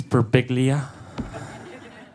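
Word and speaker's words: Birbiglia: It's Beriglia.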